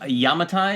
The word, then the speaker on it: Yamatai: My next one is called Yamatai. Am I pronouncing that It is correctly?